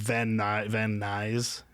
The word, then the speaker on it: Van Nuys: are like, and Van Nuys. Yeah, I guess like kind of like guys. It's spelled like guys.